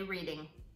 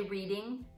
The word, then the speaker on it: Reading: monopoly and from Pennsylvania ready reading don't say reading I don't think that they would know from monopoly okay tell us Americans when you play Monopoly do you say reading I think oh is it on the American monopoly Reading Railroad Reading Railroad yeah cuz in Pennsylvania I think we say reading okay if you know anything